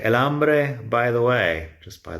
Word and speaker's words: hambre: me, but, that's el hambre. El hambre, by the way, it's because the H is silent that we're doing this.